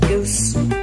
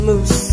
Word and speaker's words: mousse: Can I have your famous chocolate goose? It's pronounced chocolate mousse, sir.